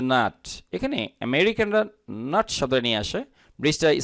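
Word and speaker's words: America: যেমন আমরা বলি আমেরিকা, আমেরিকা, নট আমেরিকা।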